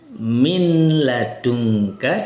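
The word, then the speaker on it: مِنْ لَدُنْكَ: Min ladunka dibaca min ladunka. Nah, minadunka ini tidak ada gunahnya. Tapi nun sukunnya ini hilang sempurna. Zatnya hilang kemudian sifat ghunahnya pun hilang.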